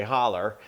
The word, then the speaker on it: Hollow: Loretta is from Butcher Hollow, Kentucky, or you guys might say Holler. And I know my friends in South Carolina, that's how they say it, down in the holler.